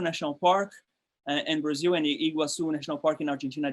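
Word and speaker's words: Iguazú: the 1930s uh the iguazu national park and brazil and iguazu national park in argentina they you pronounce it was the same but you write differently and the two parts were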